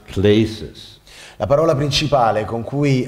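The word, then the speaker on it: κλῆσις: The major word that you're going to become acquainted with tonight is a Greek word that is pronounced klesis.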